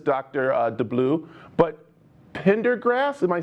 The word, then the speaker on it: Pendergast: new to this dr uh de blue but pendergrass am i saying it right pendergast tinder gas where is the pendergast district before